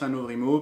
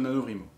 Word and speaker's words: NaNoWriMo: NaNoWriMo, NaNoWriMo, chacun le prononce à sa façon. Moi, je prononce NaNoWriMo parce que le rrr, ça me fait mal à la tête.